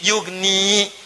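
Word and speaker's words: يغني: Yugni. Tapi karena ada in, ya-nya dibuang. Jadi yugni, cepat. Ada ya, bacanya panjang. Yugni. Tidak ada ya, baca cepat.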